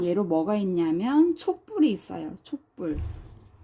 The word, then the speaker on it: 촛불: 촛불. 오, 모음이니까 울림소리고 비읍이니까 안 울림소리죠. 이럴 때는 된 소리로 발음이 됩니다.